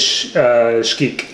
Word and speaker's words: Xquic: It's sh-KEEK. sh-KEEK. sh-KEEK.